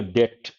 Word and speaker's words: debt: When people hear debt, B is silent, they usually think of something to avoid credit card bills and high interest rates, maybe even bankruptcy.